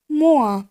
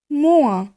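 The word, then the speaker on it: moins: চলুন দেখে নিই গাণিতিক চিহ্নগুলির ফরাসি উচ্চারণ। প্রথমেই দেখব যোগ চিহ্ন, সেটিকে আমরা বলবো প্লুস। বিয়োগ চিহ্ন, সেটাকে বলবো মোয়া মোয়া।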